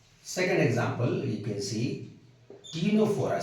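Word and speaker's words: Ctenophora: example you can see Tora C is always silent here Tora and Tora they can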